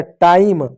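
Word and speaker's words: time: एम है। एम से होगा म इ साइलेंट होगा। किसी भी शब्द के अंत में बताया तो इन्हें पढ़ते हैं। हो गया टाइम।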